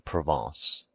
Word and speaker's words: Provence: He became subservient to the French element and his wife's relatives from Provence, pronounced proven.